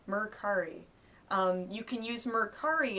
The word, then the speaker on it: Mercari: I've heard people call it Mercury, but it's Mercari. Mercari.